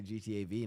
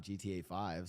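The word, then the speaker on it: GTA V: It's pronounced five, not V. Um, well, when I talk about GTAV, I say GTAV, not GTA 5.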